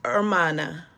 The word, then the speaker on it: hermana: Gail, the H is silent, so it's Hermana.